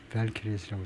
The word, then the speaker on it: Valkyries: 이 소리를 한번 들어보면 발키리스라고 그러네요.